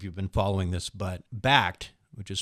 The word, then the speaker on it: Bakkt: don't know if you've been following this, but Bakkt, which is spelled BAKKT, platform that is being released by